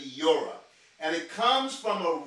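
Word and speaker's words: Yoreh: If I was to try to pronounce it, it would be Yora.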